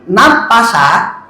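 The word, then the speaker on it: نَافَسَ: Bisa juga diucapkan dalam bentuk fi'il madhi tapi dipanjangkan nunnya. Nafasa, nunnya panjang.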